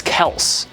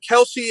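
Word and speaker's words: Kelce: one time that's Le I got Kelsey and then Kel my real name is Kel so I mean I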